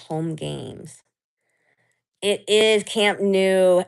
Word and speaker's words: Camp Nou: It is Camp Nou. It's holiday. Now, it's spelled n o u, but you are correct.